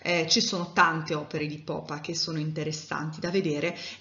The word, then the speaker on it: Popper: spesso parlare di re popper perché diciamo non è così semplice pronunciare in in tedesco però sappiate che la pronuncia corretta e carne raimund poppa iniziamo a conoscere un